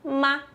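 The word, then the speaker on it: 妈: Então tem radical de mulher e que o ideograma de mãe se pronuncia ma.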